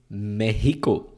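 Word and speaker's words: México: might be surprised to know but the Spanish pronunciation of Mexico is meico so I was once in an Uber in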